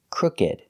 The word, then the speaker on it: crooked: is crooked that's right it's not a verb it doesn't come from a verb so the pronunciation is different we pronounce it crooked making the ed sound crooked crooked crooked is